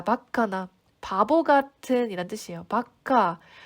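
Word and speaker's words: バカ: 자, 바카나 바보 같은 이란 뜻이에요. 바카, 우리 속어로 약간 빠가 이런 말 쓰죠. 원래 발음은 바카가 맞고요.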